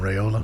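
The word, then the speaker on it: Raiola: how do you say his name Dylan Dylan rayola rayola MH um he he changed his mind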